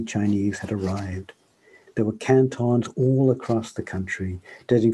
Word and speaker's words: Canton: There's a canton near Detroit, as it happens, pronounced Canton, which is why I didn't think about it for years.